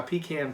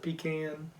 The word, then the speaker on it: pecan: cooking or he's going I don't actually pronounce that pecan but being from Georgia I'm forced to pronounce a pecan I would actually say pecan pecan because I'm white eat whitey that way yeah so my pecan